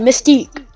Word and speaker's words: Mystique: Yeah, that's how you pronounce it, Mystique.